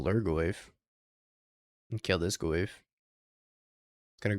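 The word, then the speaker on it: Lhurgoyf: I don't know how to spell Lurgoyf. It's got an H there. H is silent.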